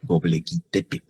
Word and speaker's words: Göbekli Tepe: Su pronunciación en turco no me la pregunte, porque no lo sé, pero españolizado esto se lee Göbekli Tepe.